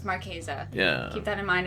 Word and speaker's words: Marchesa: yeah because it it it kind of looks maresa yeah but it's maresa yeah keep that in